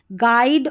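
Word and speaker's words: guide: तो ये GU रहता है ना, तो GU में U साइलेंट रहता है। देखिए गैस, गेस्ट, गाइड और गिटार, तो यहाँ पर जो गैस में U आ रहा है, गेस्ट में U आ रहा है, गाइड में U आ रहा है और गिटार में U आ रहा है, ये साइलेंट है, इसको नहीं पढ़ा गया है।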